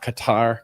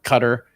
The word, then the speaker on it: Qatar: Qatar. Cutter. I like saying Qatar better than cutter. I think cutter just I don't know. It hits different. Cutter like the official pronunciation.